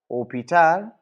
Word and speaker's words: hôpital: this say for example opal starts with a silent h so normal Mo we